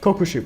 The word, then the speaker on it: Kokushibo: Let me first get Chrollo done, then I'll come back for Kokushibo. How do you say his name again? Kokushibo, I was correct.